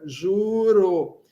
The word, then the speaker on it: ĵuro: Ó, o J com o chapéu tem o som de J. Ĵuro.